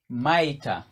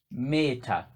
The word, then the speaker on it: maita: Maita, commonly pronounced as meta, but it's maita.